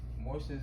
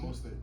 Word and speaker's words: Mostert: I want to put Morster's in there. Morster? How you say his name? Raheem Mostert.